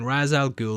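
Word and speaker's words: Ra's al Ghul: goul the whole time I know it's typically pronounced R but as they call him Raz to keep it consistent I'm just going to call him that throughout the breakdown he makes a journey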